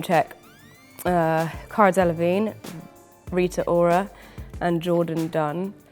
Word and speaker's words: Cara Delevingne: It was about public perception of this one person and aspiration, and so yeah, it's not really about Cara Delevingne. She just happens to rhyme with magazine.